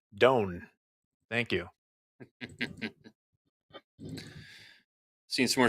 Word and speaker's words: DON: Also, someone asked how I pronounce the name DON, and I pronounce it Doan.